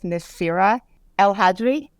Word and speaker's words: Nassira El Hadri: Today we're chatting with Nassira El Hadri. Am I pronouncing that correctly?